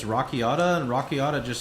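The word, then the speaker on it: Rakiata: Cuz I used to say Rakita and then people told me it's Rockiata and Rockiata just sounds weird.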